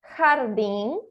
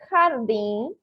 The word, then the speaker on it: jardín: Recapitulando, o som do J em espanhol é igual ao som do R de rato em português, certo?